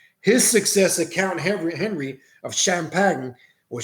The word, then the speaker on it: Champagne: His successor, Count Henry of Champagne, or Champagne, some pronounce, the nephew of King Richard, the Lion-Hearted, was approached by the assassins to negotiate an accord.